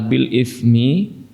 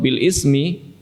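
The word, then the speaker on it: بالإثم: Sekarang, perhatikan kata "bil-ithmi," jemaat, perhatikan huruf "tsa," bukan huruf "sin."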